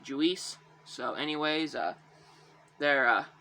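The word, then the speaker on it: Juiz: whose name is uh juice juice you know it's uh spelled j-u-i-z so i just always pronounce it julis so anyways uh they're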